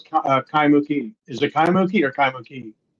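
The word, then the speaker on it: Kaimukī: Do you know how do you pronounce Kaimuki? Is it Kaimuki or Kaimuki? I've always pronounced it Kaimuke.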